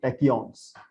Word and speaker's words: tachyons: Okay, we can pronounce it like tech, T-E-C-H tech, you know, tachyons.